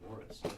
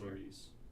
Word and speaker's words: Morris: Oh, Morris. Yeah, Morris, Iowa. Not Maurice.